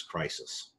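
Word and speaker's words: κρίσις: this is the judgment the greek word is crisis and it's spelled like it sounds and it's from which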